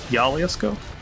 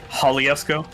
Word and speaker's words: Jalisco: Filmed in Mexico, primarily Puerto Vallarta, in the state of Jalisco? I don't know how to pronounce. I always fuck up pronouncing J's in Spanish. Jalisc. Jalisco. Yeah. J's are H's.